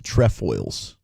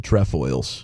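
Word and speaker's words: Trefoils: Number 10 is the TFOs on the alltime best Girl Scout cookies list. That's one of the OG Girl Scout cookies. TFOs. The Tfoils.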